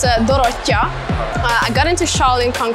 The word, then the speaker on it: Dorottya: In Hungarian, we spell it a bit differently and say it a bit differently. It's Dorottya.